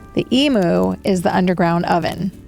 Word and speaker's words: imu: Is it spelled the same as the bird? It is not. Okay. It's IMU.